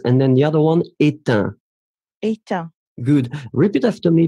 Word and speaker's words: éteint: Final G not pronounced, and then the other one, éteint.